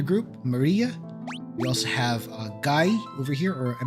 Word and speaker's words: Guy: It's like Guy from Final Fight. Yeah, indeed, it is. It's Guy from Final Fight. Okay, we'll use that pronunciation then.